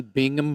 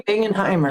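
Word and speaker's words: Bingenheimer: Rodney Bingham or Rodney Bingenheimimer.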